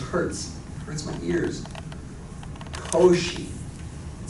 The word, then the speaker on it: Cauchy: Again, pronunciation. Don't say Cauchy. It just hurts. It hurts my ears. Cauchy. It sounds so much better. You should just naturally say Cauchy when you see that.